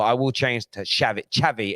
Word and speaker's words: Xavi: Xavi as in like ch, ch.